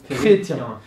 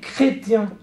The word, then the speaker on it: chrétien: Avant, il était musulman, mais maintenant il est chrétien.